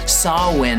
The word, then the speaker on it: Samhain: So, let's get into chapter nine, which is titled Beyond Evil Sawin Sattorii, or if you're going to pronounce it wrong, Sam Hayne Satai.